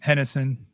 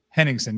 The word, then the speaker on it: Henningsen: And then you got Hennessy. How do you say his name? Henningsen, yeah.